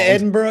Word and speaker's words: Edinburgh: So, are we ready to go to the mud hole that is Edinburgh? Yeah. Sorry about that. This It's pronounced Edinburg, just so you know.